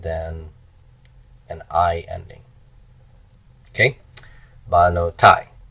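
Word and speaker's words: בְּנוֹתַי: Banotai. Accents on the end, that's the tonic syllable.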